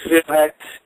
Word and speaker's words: Feel-X: Okay, so the name is Felix. It's FEEL-X, or like you might hear me